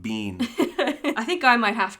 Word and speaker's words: bean: buckle far colleen urban you didn't pronounce any of those correctly yes i did be careful if anyone gets offended by me you're in the wrong place that's bean well that's yeah you're an english speaker so i'll give you that boo fear kayleen bean i think i might